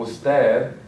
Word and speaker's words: usted: For example, usted ends with a consonant and it has the accent. The stress sound is going to be on the last syllable.